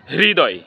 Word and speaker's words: হৃদয়: এর সঠিক উচ্চারণ হবে হৃদয় হৃদয় কারণ হলো হ এর সাথে ঋকার সংযুক্ত হয়েছে হ এর সাথে ঋকার সংযুক্ত হওয়ার কারণে এখানে আমরা হৃ এর মত উচ্চারণ করতেছি হৃদয় হৃদয় আরেকটা শব্দ